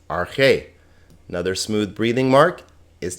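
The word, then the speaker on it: ἀρχή: Notice this alpha has a smooth breathing mark. It's not pronounced, so this is just arche.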